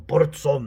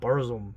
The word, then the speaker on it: Burzum: So even a Varg from Burzum, that's how you say it, Finn, not Burzum, right?